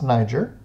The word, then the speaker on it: Niger: of the body and Niger rivers it is pronounced Niger and it was a great location for fishing